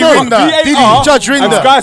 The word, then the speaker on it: Rinder: It's actually Rinder.